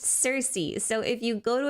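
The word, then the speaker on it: Circe: his vision I I know in Greek it's pronounced Kirky but in English if it's spelled with a c it's pronounced Cersei so if you go to an English classroom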